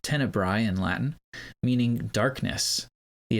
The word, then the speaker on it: Tenebrae: The standard quote unquote English language title used today, tenibra with the ae on the end is actually a Latin word pronounced tennibbri in Latin meaning darkness.